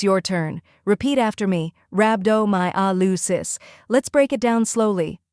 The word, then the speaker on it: Rhabdomyolysis: the correct pronunciation is rabdo my Alis first part RAB rhymes with tab second part do like